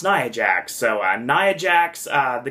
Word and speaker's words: Nia Jax: nia jax because i i read and it's pronounced niah jack so nia jax uh